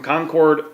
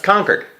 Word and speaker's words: Concord: Amy emailed in from Concord New Hampshire that's not Concord that's conquered conquered yeah there's sorry Donna and